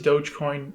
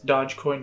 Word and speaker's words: Dogecoin: thirteen thousand dollars honestly half of that is dogecoin which i used to pronounce as dodgecoin but apparently that's not the way to say